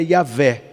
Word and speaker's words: Yavé: Ou a gente fala Javé, só que hoje a gente acabou acostumando com a pronúncia mais próxima do hebraico, que é Yavé.